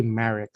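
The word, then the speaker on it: MARIIX: does it marry ix is it pronounced correctly uh yes it's actually marek so that's the mariana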